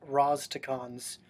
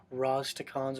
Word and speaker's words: Rastakhan's: It's pronounced Rastakhan's. It's not that hard. Rastakhan's Rumble.